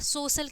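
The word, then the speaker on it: social: आया है ठीक है सी के साथ क्या है ए आई आया है तो उसका जो प्रोनाउंस होगा वो क्या हो जाएगा बड़ा सा हो जाएगा ठीक है सोशल ठीक है तो सोशल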